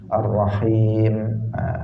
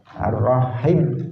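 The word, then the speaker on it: الرحيم: menggantinya atau panjang-pendeknya diganti biasanya dia mengatakan ar-rahman bacanya ar-rohim biasanya itu tidak tidak pas karena disitu ada magnetnya setelah ha ar-rahim ar-rahman setelah men itu ada mereknya disitu magnetnya diledakkan dipanjangkan Hai hadirin hadirat rohimakumullah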